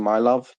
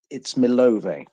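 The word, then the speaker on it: Милове: village of Milov, which I know a lot of people are pronouncing my love, but it's Konstantin may have to correct me on this pronunciation. Actually, it's Milove. Is that right, Konstantin?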